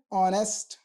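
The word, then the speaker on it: honest: ये consonant word है लेकिन जब हम इसको प्रोनाउंस कर प्रोनाउंस करते हैं तो इसको बोलते हैं आर एच यहां पर हमारा साइलेंट हो जाता है अर एन ऑनेस्ट ओ की साउंड आ रही है वल साउंड है एन ऑनेस्ट पर्सन राइट तो अब हमें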